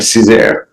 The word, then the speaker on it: Cesar: Did I say it correctly? Is it Cesar? That's right, Cesar. Cesar.